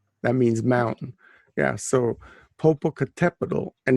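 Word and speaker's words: Popocatépetl: on the tepido that means mountain yeah so popocatepetl and it's next to eastasiwat and that's not spelt anyway and what it's pronounced is it right right and because the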